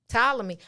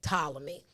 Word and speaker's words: Ptolemy: find the pronunciation of that silent p ptolemy i would have never guessed that ptolemy um in the second